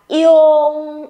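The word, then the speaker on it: yong: Y và Ung là Yung. Ok, chúng mình không đọc là Ung nhé. Ung là có mỗi cái phần đằng sau thôi này. Âm này phải đọc cả là Yung, Yung.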